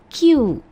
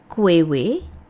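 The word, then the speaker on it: queue: Q ya. Q ini yang betul ya. Jadi bukan kuew, bukan juga kui ya. Yang betul adalah Q antrian. Oke, seperti huruf Q gitu ya.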